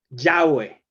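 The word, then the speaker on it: Yahvé: habló quien era el dios que les hablaba ya ve ya ve que es como se pronuncia quiere decir el eterno quien es el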